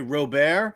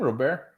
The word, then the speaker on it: Robert: do you I'm sorry Robert is he French isn't that he pronounced his last name real bear I think it's Lewis Robert ah okay yeah two